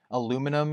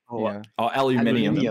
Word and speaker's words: aluminium: of those, like especially between like the American pronunciation and then like the British pronunciation of a lot of stuff. Like aluminum is one of them. Like aluminium. Aluminium. Yeah.